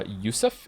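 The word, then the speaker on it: יוסף: Since we're talking about having many names, the name Joseph is pronounced uh Ysef in the original in its original Hebrew form.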